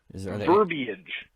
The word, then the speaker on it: verbiage: Verbiage.